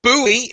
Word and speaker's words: Bowie: the design is from the United States Jim Bowie if you want the correct pronunciation but yeah one of my favorite knives